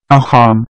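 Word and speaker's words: অসম: In the Assamese language, Assam is called Aham.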